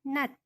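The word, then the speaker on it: 낮: adalah ini bacanya Bagaimana Najwa bukan ya dibacanya Nat karena jiet di bawah di baju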